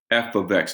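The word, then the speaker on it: f(x): see it expressed differently you would see this F ofx is how you say that F ofx it's pronounced f of x that's how you say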